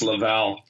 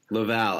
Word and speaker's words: Laval: for you people with your American accent it's pronounced Laval Laval I'm sorry I'm sure that's not gonna beat